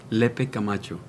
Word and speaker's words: Lepe-Camacho: your name because sometimes guess i don't quite pronounce it right le pe camacho isn't that beautiful we have a treat for